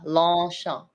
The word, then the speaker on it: Longchamp: Champ. See how my mouth is open? Yeah, Longchamp. Longchamp. Yes. You don't have to close it.